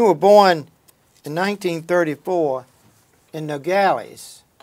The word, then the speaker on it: Nogales: all right you were born in 1934 in Nogales right is that how you pronounce it that's Nogales yeah Nogales Arizona your father was a general